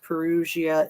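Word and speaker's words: Perugia: say the name you you don't pronounce the G it's a soft G like an S perusia Italy I was like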